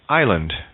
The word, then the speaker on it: island: to lift in French S is silent in island Isle or debris T